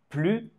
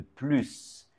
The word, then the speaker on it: plus: I est une voyelle nous devons faire une liaison nous allons lier le S et le I et prononcer avec le Son Z comme si c'était un Z plus intelligent plus intelligent par